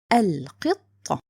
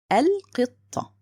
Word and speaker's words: القطة: So for sure, this is lam qamariya. It means it's written and pronounced. So the word will be القطة. القطة.